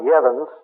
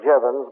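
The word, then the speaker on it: Jevons: that's a j j v o NS it's pronounced yans looks like jevans but it's not again he was a logician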